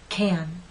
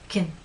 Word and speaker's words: can: you repeat after me the first one is stressed can can now let's try the unstressed pronunciation k k and the alternative unstressed pronunciation kin kin let's go back to